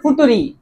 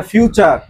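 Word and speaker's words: future: এটার উচ্চারণ হচ্ছে ফুটুরি। আরে বলদ এটা ফুটুরি না। এটা ফিউচার।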